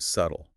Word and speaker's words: subtle: Well, think about the word subtle. We don't pronounce the B at all.